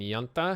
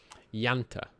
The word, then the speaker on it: junta: The Mexican junta has been called against us. Well, that's not ideal. We could respond by banning fascism. Yanta, apparently, is more close to how that's pronounced.